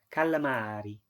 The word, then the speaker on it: calamari: the more you keep i said a bit wrong a bit english i need to say it's letter um more clearly and then you get